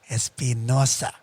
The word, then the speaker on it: Espinosa: like that too dude that's a spanish last name and it's pronounced espinosa everyone would teach him